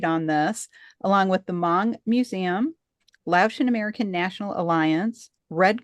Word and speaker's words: Hmong: And as uh Caying mentioned uh she and new are from the Mong tribe which is you may have seen it in writing HM OG but the H is silent. So it's the Mong tribe.